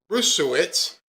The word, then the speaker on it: Bruesewitz: Bruesewitz, and Alex Bruesewitz, who is a Trump advisor,